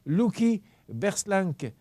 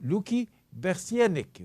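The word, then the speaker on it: Louky Bersianik: En 2011 est décédé Luki Berslank. Je vais le prononcer comme il faut. Luki Bersienik, voilà.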